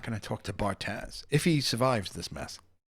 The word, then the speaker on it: Bartaz: Bartez or Bartaz? Bartaz.